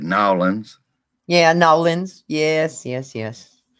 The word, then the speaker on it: New Orleans: yes and the quarter you got to say it like you live there it's no one's yes it's nolan nolan's louisiana but look you can get away with new orleans if if if you move there if it if and